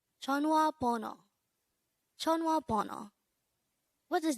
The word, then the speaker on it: 전화: JEONHWA. JEONHWA. This is pronounced as a two-syllable word. The first syllable is Jeon, second syllable is Wa.